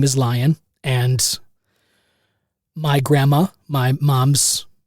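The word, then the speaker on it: Lyon: Lion is spelled L Y O N.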